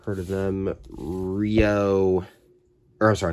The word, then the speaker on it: REO: Rio. Or sorry, not Rio. Rio. I don't know how to say that. It's spelled R-E-O.